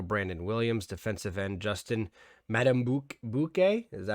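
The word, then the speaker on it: Madubuike: uh nose tackle brandon williams defensive end justin madame bouquet is that how you pronounce that metaboy yeah that's excuse me yeah that's the rookie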